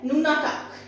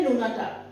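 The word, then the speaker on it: nunatak: easy है pronunciation भी easy है वर्ड है ननाटाक नोनाटाक स्पेलिंग है एन यू एन ए टी ए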